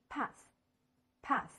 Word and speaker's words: path: 注意这个 th 这个合在一起的这个字母组合的发音，经常呢它发的是咬舌音，也就是说请大家把舌尖放在两个牙之间，然后